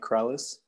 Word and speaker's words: Krallice: Krallice, like Alice, but with like two L's and a KR at the beginning.